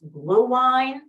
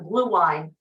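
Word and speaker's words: Glühwein: It's, and I don't speak German, but I believe it's pronounced blue wine or mulled wine.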